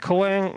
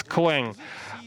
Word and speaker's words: Clang: C and Objective C languages he named it Kang uh some people call it cang uh trust me this is a mistake I asked Chris latner uh personally so the right pronunciation is clang uh C C stands for the a family